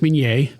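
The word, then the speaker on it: Minié: Like you said, it's pronounced minier, named after the inventor.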